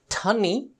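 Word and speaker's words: tonne: I'm going to overemphasize the pronunciation of these words to try and distinguish between the different types of ton. So the tonny would be a metric ton, the ton would be a long ton, and ton would be a short ton.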